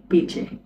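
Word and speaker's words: piće: আমরা বাক্যে প্রয়োগ দেখছি, আমি পানীয় চাই, আমি পানীয় চাই, ঝেলিম পিচে, আমি চাইটা হচ্ছে ঝেলিম, ঝেলিম, আর পানীয়টা হচ্ছে পিচে, ঝেলিম পিচে।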